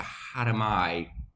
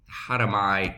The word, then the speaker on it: harami: about right now is a hatter my candlestick that's how you pronounce it people pronounce it different ways how do my candlestick pattern which is